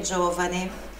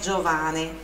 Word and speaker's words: giovane: Olha a pronúncia do giovane, não é Giovane. Não confunda com o nome Giovanni, com dois N's e final I. Giovane, giovane, sílaba forte ali no O.